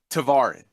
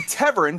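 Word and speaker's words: Tevarin: All right, first off, it's pronounced Tavarin. They say Teverin because they're British. And when the British demonstrate the ability to beat the Germans in a war, we'll let them dictate how things are pronounced. Until then, it's Tavarin.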